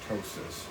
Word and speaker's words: ptosis: reverse that brow ptosis with the p ketosis but it's pronounced ptosis so after I've trimmed